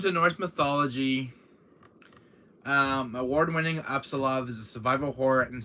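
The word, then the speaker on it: Apsulov: guys can't see the name back that's uh absolov um makes the game's printing um but anyways it's called absolutely and the gods it's spelled a-p-s-u-l-o-v end of Gods it's called absolov um you can find us on Amazon yeah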